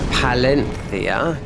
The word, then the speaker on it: Valencia: Um, he's living in Valencia now. Or as they say in Spanish, Palenthia.